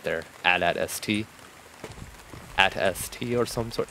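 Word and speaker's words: AT-ST: definitely AI um uh dialogue right there at at St at St or some sort yeah it's it's pronounced atst but I mean you know yeah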